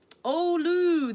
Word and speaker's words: ulu: and over again um oh Lou that's how you pronounce it I was calling it ULU but oh Lou uh